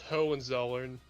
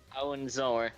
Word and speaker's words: Hohenzollern: It's, I believe it's pronounced Hohenzollern. Hohenzollern and families together to restore the monarchy.